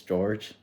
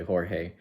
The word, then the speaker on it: Jorge: to mispronounce my name because in English it's George but my name is in Spanish so it's actually Jorge I'm 24 years old